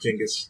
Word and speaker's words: Genghis: It's pronounced Genghis.